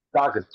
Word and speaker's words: Stockton: Stockton, like the point guard, like John Stockton.